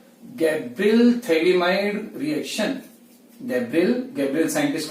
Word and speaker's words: phthalimide: Acid होता है ना, इसका पीएच साइलेंट है, थैलिमाइड बोलेंगे।